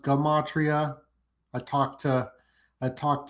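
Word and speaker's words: gematria: Uh it's not pronounced jamatria. It's actually pronounced gumatria.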